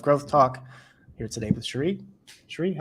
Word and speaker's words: Cherie: But and by the way, am I saying your name right? It's Cherie, right? Yeah, it is Cherie. So it's not A lot Cherry. of people mispronounce it.